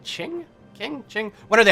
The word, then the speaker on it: Qing: sort of form the qing dynasty I am told that's not actually how it's pronounced it's perhaps more like ching ching ching what are